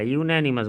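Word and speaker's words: unanimous: यूनैनिमस भले यू से है लेकिन उच्चारण होता है यूनैनिमस।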